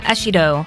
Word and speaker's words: Ashido: Another interesting character that we can’t pass up is Mina Ashido. Her last name is basically pronounced the same as how you would pronounce “acid” in Japanese.